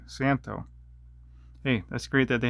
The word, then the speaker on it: Szanto: what model this is the z is silent santo okay i guess i was saying it wrong santo hey that's great that